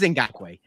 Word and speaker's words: Ngakoue: It is Ngakoue. I knew it was Ngakoue. You got me. Ngakoue.